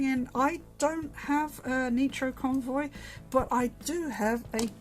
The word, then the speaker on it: Nitro Convoy: because no because uh the japanese don't pronounce eyes like we do they pronounce them as ease so nitro convoy is